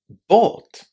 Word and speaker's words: bought: So, how do we say these five letters? Well, in fact, they are just pronounced as only two sounds. Listen and check. Bought. bought. How are these letters pronounced? What did you hear here at the end? It's just the long o sound again.